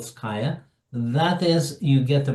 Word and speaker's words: Scaia: Then they fill out a form, and I offer them to get into the next level of what we call Sky, to rhyme with Scaia.